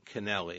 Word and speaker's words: Canelli: Well, whatever happened to Anna Canelli, and I'm pronouncing Canelli right? You are, just like cannoli, yeah.